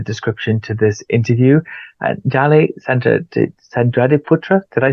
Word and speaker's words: Dally Sandradiputra: And Dali Sandradiputra, did I say it right?